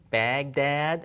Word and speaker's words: Baghdad: write this in English we use a G Baghdad I mean we pronounce it from the front of the mouth